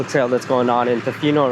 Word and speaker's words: Tofino: That's how you say it, Tofino.